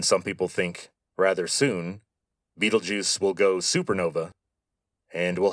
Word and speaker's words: Betelgeuse: By the way, that is how you say that name, Betelgeuse.